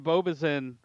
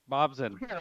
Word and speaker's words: Bobzin: Jordan Bowman, Will Chrisman, and Braden Bobizin. And if I said that wrong, let me know. You know how to say it? Bobizin? Bobzin.